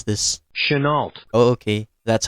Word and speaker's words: Chenault: I don't know how to pronounce this. Chenault.